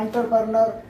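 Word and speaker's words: entrepreneur: हैं इसको एंटरप्रेन्योर, को बहुत सारे लोग बोलते हैं एंटरप्रेन्योर, बट ये इसको बोलते हैं ENTRE, एंटरप्रेन्योर। या और इसको ब्रिटिश में बोलते हैं ऑन्टरप्रेन्योर। अब ऑन, अब आप सोच रहे होंगे कि ऑन्टर क्यों पढ़ा जा रहा है, लिखा जा रहा है ई से, तो बोलते हैं ऑन्टरप्रेन्योर, ऑन्टरप्रेन्योर है ना, बिजनेसमैन जैसे कि आप बोलते हैं, राइट। ऑन्टरप्रेन्योर लिखा जा रहा है ई से, बोला जा रहा है ओ।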